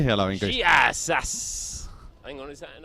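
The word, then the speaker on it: Γεια σας: I think it might be a hard G. Oh, okay, how are you going? You're going... Giahas. Oh, that did sound better.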